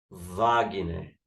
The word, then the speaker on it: Wagner: Wagner né, então aqui O w tá fazendo o som de De que? De v, não é isso?